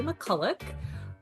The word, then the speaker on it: McCulloch: And on this episode, I am joined by Holly McCullik. Welcome to the podcast. Thank you very much. And also well pronounced for my last name. You did that really well.